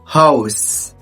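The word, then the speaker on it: Haus: أوضة هاوس. شايف النطق بيجي ازاي؟ هاوس، حرف الأو معروف نطق أو، احفظها زي ما هي كده.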